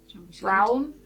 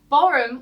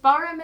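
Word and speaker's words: Brougham: Borum was you don't pronounce the R. Borum was a supporter of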